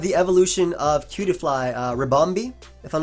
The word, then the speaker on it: Ribombee: up we have the evolution of culy uh rombi if I'm not mistaken that's how you pronounce it it is rombi yeah yeah it is bug and fairy with